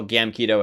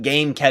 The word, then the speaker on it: Gamkedo: super simple got it my stuff is all gam keto everywhere with no e in the middle it's not game cat Cato yes I actually